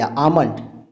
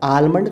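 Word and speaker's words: almond: एल से देखिए आमंड। अब आलमंड तो नहीं कहते ना, आप आमंड कहते हैं।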